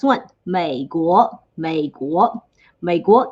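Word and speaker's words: 美国: may go make what maego is usa actually may is the um similar pronunciation that chinese people picked for may america so meiko is united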